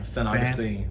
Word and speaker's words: San Augustine: San Augustine, you know, it's not Saint, Yeah. it's San Augustine, like Yeah. San Antonio, San Augustine.